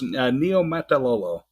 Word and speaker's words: Niumatalolo: Is that how you pronounce his name? Yeah, pretty close. Niumatalolo.